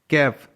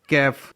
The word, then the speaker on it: calf: कैफ, CALF, कैफ, कैफ में L F का combination है जिसमें L साइलेंट है.